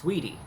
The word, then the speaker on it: Saweetie: Now, the pronunciation, it's spelled S-A-W-E-E-T-I-E, but you have to say, the A is silent, so it's Saweetie, right?